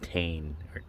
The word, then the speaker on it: Tein: All right, so now you're gonna swap these to the Tein. I thought it was Tein until I watched a video and they're pronouncing it Tein.